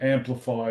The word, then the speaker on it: AMNplify: people say that, but um, it's like a silent N.